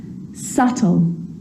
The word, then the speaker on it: subtle: some dumb plumber and the letter B is often silent when it's before the consonant T so think of these examples subtle debt and doubt so seeing all of